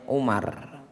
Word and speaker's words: Umar: bin Khattab radhiallahu anu Jadi kalau tulisannya Ain mim ro itu bacanya Umar tapi kalau setelah Ain mim ro ada wunya itu bacanya Amr dari sahabat Umar berkata